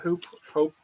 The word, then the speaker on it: Hoop: I understand from Vim it's pronounced Hope. It's pronounced Hope, but come on, we're in Dublin.